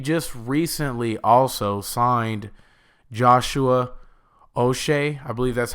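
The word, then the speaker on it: Uche: recently also signed Joshua oshe I believe that's how he wants it pronounced I believe that's how he pronounces his last name is OA not UI which I probably would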